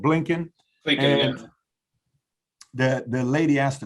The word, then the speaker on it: Blinken: Meaning, yesterday, I think 60 Minutes was done, a few days ago with Anthony Belkin. I'm pronouncing his name wrong, Blinken.